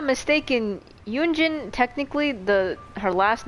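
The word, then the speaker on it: Yun Jin: if I'm not mistaken yunin technically the her last name is pronounced with like two syllables and not one kind of like you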